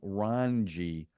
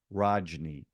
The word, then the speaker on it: Rajni: I was mispronouncing his name because when I wrote out my notes, I misspelled it. So I was calling him Ranji, not Rajni.